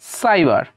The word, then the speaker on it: cyber: এবার দেখুন CYBER, ও সির পরে ওয়াই, তাই উচ্চারণটা হলো সাইবার।